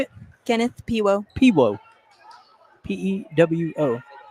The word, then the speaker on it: Pewo: Pewo.